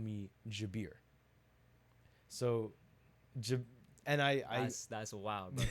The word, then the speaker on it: Jabir: So I was like, "My name is not Jabir, it's Jabir. Jabir. Like Ja Morant bear."